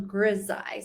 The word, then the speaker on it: grisaille: And then someone else is asking, so it's not on Versailles, it's on grisaille.